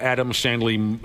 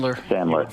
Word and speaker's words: Sandler: you guys would force me to a 24-hour Adam Sandley, how do you say his name again? Sandler.